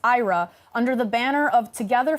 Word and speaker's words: IHRA: This year, Sweden holds the rotating presidency of the International Holocaust Remembrance Alliance, or IHRA, pronounced IRA, under the banner of